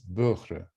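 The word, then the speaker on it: Boehrer: to pronounce it, and the result is Böhre, Böhre. So Katie Böhre.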